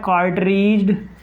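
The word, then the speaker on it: cartridge: पहला कार्ट्रीज डी इसमें याद रखना है, साइलेंट है। तो कार्ट्रीज्ड टाइप फ्यूज।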